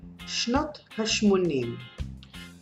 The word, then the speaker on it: שנות השמונים: Shnot HaShmonim. Now this is a bit complicated. There is Shnot, which is the years of The HaShmonim. 80. 80. So it's the years of the 80. Shnot HaShmonim.